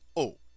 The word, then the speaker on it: au: the new word o Au pronounced o when a is followed